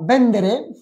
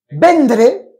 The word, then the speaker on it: venderé: Et attention à bien prononcer toutes les lettres. Parce que venderé, je vendrai. Vendré, je viendrai. Mais c'est un peu comme en français. Je vendrai, je viendrai. Il n'y a qu'une seule lettre qui change, c'est la I.